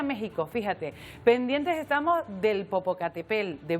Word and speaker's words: Popocatépetl: del Popocatépetl de Popocatépetl y te digo estas dos formas de decirlo porque hasta en Ecuador han hecho una encuesta de Cómo se dice el nombre del volcán es como un trabalenguas Bueno lo cierto Es que todos estamos acostumbrados a decir Popocatépetl y se dice Popocatépetl con la el acento o también se puede